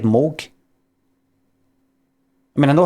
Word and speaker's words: Moog: That's why I'm saying I'm saying Moog. And it rhymes with Vogue.